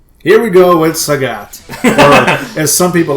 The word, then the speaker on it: Sagat: Here we go with Sagat. Or, as some people like to call Sagat. I like to call him Sagat. I've always called him Sagat. I don't care what it rhymes with. It is Sagat.